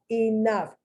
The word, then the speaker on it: enough: v the uppercase v enough f you see the gh the gh is spelled it's pronounced like an f just like tough just like cough they